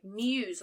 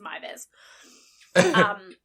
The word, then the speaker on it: Meiwes: me reading it, I was reading it as Muse or something like that. Yeah. And then when I found the mini documentary, I actually got to hear him pronounce his name. And he introduced himself as Armin Mivers.